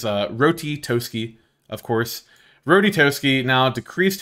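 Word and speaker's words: Ratatoskr: Rotitoski, that is how you pronounce that, is Rotitoski, of course.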